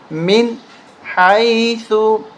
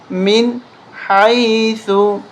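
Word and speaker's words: مِنْ حَيْثُ: حمزہ، ہا، عین، حا، غین، خا۔ یہاں پر ہا ہے، اس لیے ہم نون ساکن کے بعد ہا آ جائے تو نون پہ غنہ نہیں ہوتا۔ من حیث، من حیث سکن، یہاں پر اخفا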